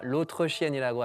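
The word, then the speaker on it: l'autre chienne: 발음이 조금 다르게 하면 로트리시엔가 아니라 로트르시엔이라고 하면 약간 좀 나쁜 말이 되는 거예요.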